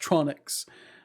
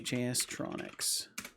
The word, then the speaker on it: JS Tronix: And now hopefully when he says your name, he won't say just Tronics. Say JS Tronics.